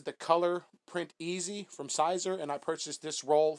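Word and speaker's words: Siser: Although I believe it is pronounced Caesar.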